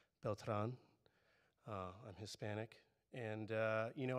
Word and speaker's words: Beltran: My last name is Beltran, should be pronounced Beltran.